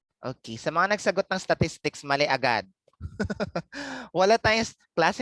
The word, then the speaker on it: statistic: Okay, sa mga nagsagot ng statistics, mali agad. Wala tayong class, hindi tayo statistics. Ay, mali ang pronunciation ko. Hindi ito siya statistics. Okay? Statistic. Wala siyang S sa dulo.